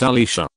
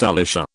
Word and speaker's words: Alicia: My name is Alicia, pronounced Alicia. Easy, simple, fairly common name, if oddly spelled. She decided that, because there's an I in my name, it should be pronounced Alicia.